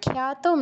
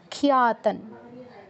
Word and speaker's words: খ্যাতম: বাহ, ভালো হয়েছে, একটু ভুল হয়েছে, খ্যাতম নয়, খিয়া, খিয়া, খিয়াতন।